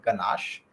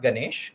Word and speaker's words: ganache: do that is called ganache okay not ganesh ganache so it's it's spelled g-a-n-a-c-h-e okay according to whatever